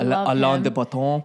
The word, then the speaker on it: Alain de Botton: I've listened to a couple of things from Alain Botton recently. Is that how you say his name? Yeah, Alain de Botton.